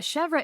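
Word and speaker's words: chèvre: interesting yeah is that how you say it chevra I've always said it chev well I did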